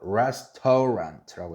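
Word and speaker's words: restaurant: 이거 restor랑이라고 발음하면 돼요, 안 돼요? 안 돼요. restorant라고 해야 돼요.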